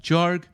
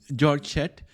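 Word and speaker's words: Georg Schett: the way for a German team led by jorg I don't know if I'm pronouncing his name properly it's spelled g-e-o-r-g and the last name is s-c-h-e-t-t George set to conduct a clinical study at the University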